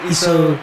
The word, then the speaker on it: Easu: Am I pronouncing your surname right? Yeah, Easu.